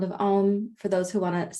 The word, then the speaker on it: Om: Reminder, Om is A, U, M, and silence, 4 syllables.